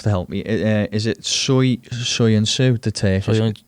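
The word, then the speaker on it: Söyüncü: The guy, I can never pronounce his name. You have to help me. Is it Soyuncu, the Turkish? Soyuncu, yeah.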